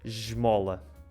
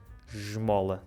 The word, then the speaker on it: esmola: Fica j, como ao som do J. Esmola. No Brasil é mais simples. Como é que é no Brasil? Na maior parte do Brasil. Então, na maior parte vai ficar o S mais comum, né, digamos assim, né?